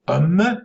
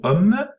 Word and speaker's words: homme: écrit homme sans âge puisque on ne prononcer plus ce h alors comment est-ce qu'on